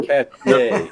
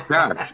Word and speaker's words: cache: Oh, cachet. No, it's cash. The French word is a cache, like a hidden trove.